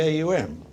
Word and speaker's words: Aum: in sort of warning the aum is never pronounced in normal conversation as its word always a um and if you think